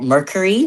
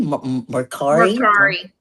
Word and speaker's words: Mercari: I'm not going to pronounce this right. Mercury. Mercari.